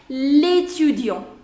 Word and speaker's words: l'étudiant: So that means, see, if you would have said this word without L apostrophe, the pronunciation would have been étudiant, étudiant. But now with this, it joins and it becomes l'étudiant. L'étudiant.